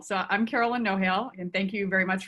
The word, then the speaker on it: Nohejl: The next alumni is Carolyn Nohejl. Sorry if I mispronounced your last name. No, you're great. It's Nohejl. So I'm Carolyn Nohejl, and thank you very much for having me.